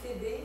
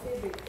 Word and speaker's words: Phébé: Ça peut être prononcé Phébé. J'avais discuté dans la classe cette semaine, justement. Il s'appelait comme ça? Pour vrai? Elle s'appelle Phébé, c'est une petite grecque. Phébé? Phébé. Ça se prononçait Phébé.